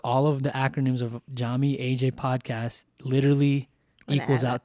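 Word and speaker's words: Yami: name of yappen so Jami your name and as everyone will know is spelled with a Y but it's pronounced with a J and so Jami is spelled y a m i so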